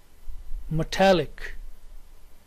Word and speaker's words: metallic: the primary stress mastiza third word is metallic say with me metallic the primary stress is here on italic metallic next word is here